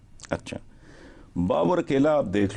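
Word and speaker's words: बाबुर: खूबसूरत सी बात सुनो बाबर को अपने बेटे बाबु है लफ्ज बाबर नहीं है राइट नम कों को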